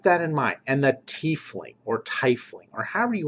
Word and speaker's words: tiefling: I go tief. I'm of the I as an E in German, tiefling. And that's what the Germans would pronounce it. It's not tiefling.